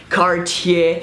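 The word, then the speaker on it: Cartier: ah no cap ta just go with car and then tier and just go carts here and then just go cart here and don't pronounce that are at the end cards here and then pronounce the R as a French are she catchy then Jana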